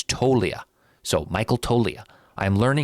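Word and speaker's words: Toglia: I learned yesterday a loyal listener said the G is silent. It's Tolia.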